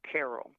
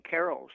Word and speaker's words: Carol: phonetically, that C in Carol sounds to a K.